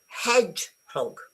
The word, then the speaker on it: hedgehog: Do I say hedgehog or hedgehog? is false. Okay, the stress is on the first bit and you go hedgehog but you pronounce hedge